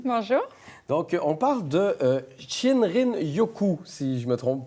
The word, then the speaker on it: Shinrin-yoku: Donc, on parle de Shinrin-yoku, si je ne me trompe pas. Oui, exactement. Vous le prononcez bien.